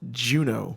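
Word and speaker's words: Juneau: points of junior i looked it up it's pronounced juno juno yes barrel and anchorage alaska yes and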